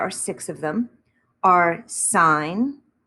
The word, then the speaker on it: sine: six of them are sign which we do abbreviate as s-i-n but we always still pronounce it sign and sine of theta